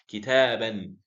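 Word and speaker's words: كتابا: Kitaban. How do we pronounce it? We pronounce it that way. Kitaban, ban with the noon at the end, okay?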